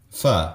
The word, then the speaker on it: pho: Pho. Pho. Yeah. See, It's a very weird, like, vowel. I think it's in between an A, O, pho.